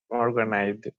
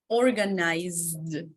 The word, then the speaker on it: organized: Organized. Organized. Organized. Because remember, letter Z, you have vibration. It's not like S.